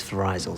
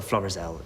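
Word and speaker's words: Florizel: you said flores-el uh i i thought the pronunciation was verizon sorry no it's a floral street isn't that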